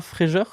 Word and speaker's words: Fréger: prononce mal mais Charles Fréger Charles fréer Charles fr je sais pas comment ça se prononce en vrai parce que j'ai lu juste le le nom alors Charles Fréger c'est c'est Charles fréer c'est un photographe qui